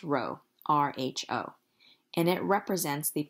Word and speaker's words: rho: are stated like this this Greek letter here is not a P it's pronounced Rho Rho and it represents